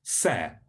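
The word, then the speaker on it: שֶׂה: this written down um if an h appears at the end of a word it's not pronounced so the word for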